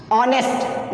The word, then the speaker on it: honest: जैसे मैंने यहाँ ऑनेस्ट डाला है, ये कॉन्सोनेंट होकर भी वॉवेल्स का साउंड प्रोड्यूस कर रहा है, क्योंकि यहाँ पर हम एच के प्रोनाउंसिएशन को ओमिट कर रहे हैं, यानी एच जो है एक साइलेंट लेटर है यहाँ पर.